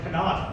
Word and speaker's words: Kanata: Like, what's wrong with Kanata? That's how it's pronounced.